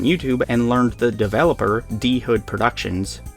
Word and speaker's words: Dhood: game up on YouTube and learned the developer dhood Productions pronounced dhood not dude with an H in the middle of it